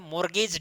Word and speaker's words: mortgage: यहां पर हालांकि टी साइलेंट रहता है, हम लोग बोलते हैं मोर्गेज डीड, कहा जाता है